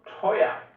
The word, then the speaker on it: teuer: Não parece que todo o E no final da frase tem um som de A também? Presta bastante atenção na forma que ele pronuncia. For example, teuer.